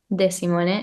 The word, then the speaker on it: Desimone: Um, oh, so my name then my last name is Desimon.